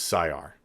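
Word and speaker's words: Syar: to change the name it is not zaytrek it is psi-r s-y-a-r that's i don't know if that's the way everybody's gonna pronounce it but that's why i'm pronouncing it for now until i hear better uh the battle trait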